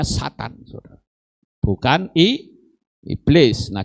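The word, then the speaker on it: שטן: malaikat yang jatuh makanya ditulis dengan kata syin tet Nun tiga huruf bacanya Satan Saudara bukan I iblis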